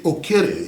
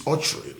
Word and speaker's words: Okyere: It's Okyere in Igbo, but it's Okyere, like you pronounce right now. Right now I got the correct pronunciation.